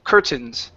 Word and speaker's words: curtains: It's curtains. Stress at the beginning.